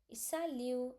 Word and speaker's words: salut: Sa lu, lu. U is like you, so it become salut. S is like s, a lu. Okay, and t is nothing but silent. Why? Because we are going to pronounce only c r f.